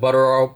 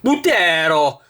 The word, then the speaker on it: Buttero: Mike pronounces it buttero, but I looked it up online. It's actually pronounced butero, right?